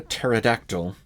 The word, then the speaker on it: pterodactyl: Why can't you hear a pterodactyl go to the bathroom? Because the P is silent. Anyway, there's Atris, who was the father of the two brothers in the first game.